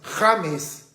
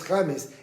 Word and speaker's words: James: O como el famoso futbolista de la selección colombiana, James Rodríguez, no es James, porque en castellano es James, en inglés puede ser James.